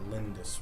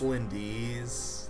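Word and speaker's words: Lyndis: well yeah it's a lindis rock that doesn't improve your level ups though that just gives you more level options it's lindi's sir craig it's pronounced lindy's lindy's nuts nice nice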